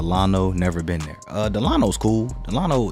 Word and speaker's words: Delano: sorry the delano like he's saying delano i'd have it the delano that's the correct way to say it please pardon me but